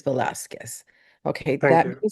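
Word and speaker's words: Velazquez: Sir, is your last name, is it Vasquez or Velasquez? Velasquez, V as in Victor, ELAZ as in Zebra, QUEZ. I always feel that the correct pronunciation of someone's last name is very much a sign of respect. So I wanted to make sure it was on the record that it is Velasquez.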